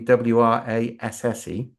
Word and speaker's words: WRASSE: Oh, and by the way, it's now going to be WRASSE. Yeah, because everybody started to pronounce it that way anyway.